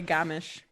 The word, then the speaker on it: Gamish: So it's like Garmish, but you just say Gamish.